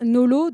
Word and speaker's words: NoLo: Donc quand on parle de boissons Nolo et de vin Nolo, de quoi parlons-nous précisément ? Donc dans notre jargon anglais, donc les Nolo prononcés à la française.